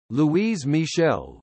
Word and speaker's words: Louise Michel: Louise Michel, French pronunciation, L-W-I-Z Mill, listen, the 29th of May